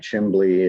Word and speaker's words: chimbly: Pronounce it like Chimbly, it refers to a chimney, and you say that word many, many times in your song.